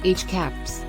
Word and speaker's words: HCAHPS: CHIPS, pronounced as HCAPS, is a survey instrument and data collection methodology for measuring patients' perceptions of their hospital experience.